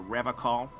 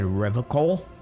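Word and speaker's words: Revachol: The Seren way. The fine way. With an elegant s.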